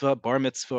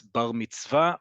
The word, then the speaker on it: bar mitzvah: Bar mitzvah or bat mitzvah, again, we've talked about emphasis in Ashkenazi Hebrew versus modern Hebrew. What would be bar or bar mitzvah or bat mitzvah among native English speakers, and especially in North America.